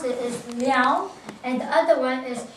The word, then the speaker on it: Liao: The word how you pronounce it is Liao, and the other one is Songren.